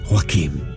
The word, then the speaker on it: Joachim: old man enters the room i am elder joachim oh so that's how you pronounce that ah that is quite a tale